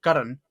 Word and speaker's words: Karna: of the main characters Karan who it's spelled karna in the west he's given a suit